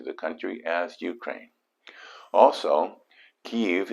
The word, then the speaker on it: Kyiv: Also, Kyiv is the Ukrainian pronunciation of the capital that Russians refer to as Kiev.